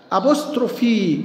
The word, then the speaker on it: apostrophe: أكني، أكني حب الشباب، أبوستروفي، أبوستروفي، أبوستروفي، هنا الإي اتنطقت وهنا الإي اتنطقت وهنا الإي أيضا اتنطقت.